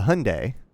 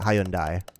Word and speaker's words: Hyundai: been a problem because in the uk they pronounced that hyundai they actually pronounced the y oh i thought you were supposed to pronounce it it so i think in like what is it korean i think and i it might be korean um i think it is something like hyundai like it's there's like a